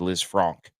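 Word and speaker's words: Lisfranc: Supposed Liz Franc if you want to say it correctly.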